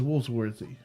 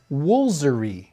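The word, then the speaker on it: Woolfardisworthy: I'm gonna say it's Woolsworthy. Woolsworthy. There's no way you guys can be right. Just skip the far. It's in there for a reason, right? Well, maybe not. Maybe this one's the Hey, tricky somebody one. just agreed with me with Woolsworthy. Whoa, let me check. This says Woolsery. Woolsery. Woolsery. Okay.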